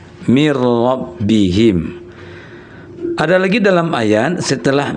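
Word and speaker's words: من ربهم: atau mirro ya mirro makanya mirrabihim tulisannya min rabbihim tapi dibaca bukan min rab tapi mirrabihim ada lagi dalam ayat setelah min it min inian Yang mudah min nunnya sukun.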